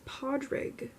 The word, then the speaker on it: Padraig: which is pork and this is just not right this is Padraig pod pa WD - ROG and it's pronounced I mean it's spelled PA d ra IG so that's not even